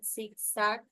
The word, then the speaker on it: zigzag: Y aquí en la palabra zigzag, como se bien dice, también tenemos algunas agudas